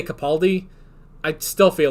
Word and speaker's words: Capaldi: of the lockdown so a lot of people sadly pronounce peter's name wrong it's pronounced capaldi okay i i guess i think i'm still gonna say capaldi i still feel like